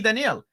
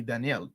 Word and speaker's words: Daniel: So, I went back and looked at an interview and yeah, he pronounces it that way.